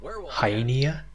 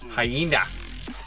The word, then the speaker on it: hyena: a hi Nia but it's actually a just say hi Nia like with an extra vowel they are pretty damn